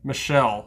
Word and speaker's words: Michel: Uh, Michelle Waters is the way you say her name, but it could be mistaken for Muel the way it's spelled.